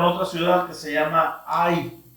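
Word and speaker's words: Hai: Sino que se topan con otra ciudad que se llama Ai o Jai. La H se pronuncia como J mayormente en el hebreo.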